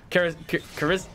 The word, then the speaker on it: Karisuta: But there's like a little bit of but like kind of like the L sort of becomes like an R a little bit, like okay, Karisuta.